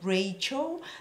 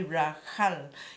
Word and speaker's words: Rachel: that's how you got Rachel the English pronunciation is different this is actually Rahel you know if you pronounce it and Hebrew should be an H heavy H k'rud Kutter o H